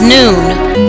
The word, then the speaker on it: noon: And the original ethereal and spiritual science of noose, Noopooh, is noon, pronounced N-O-O-N, noon.